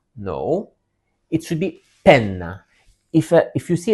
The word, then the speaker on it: penna: And also another detail in Italian you have to emphasize the double letters. So don't pronounce it as penna. No, it should be penna.